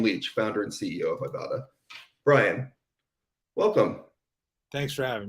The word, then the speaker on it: Ibotta: question am I pronouncing Ibotta correctly nailed it yes it's a it's an ad pun based on I bought a bag of groceries for example so that's